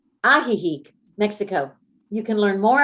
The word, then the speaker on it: Ajijic: when they moved to ajijic except oh it's not pronounced that ajijic mexico you can learn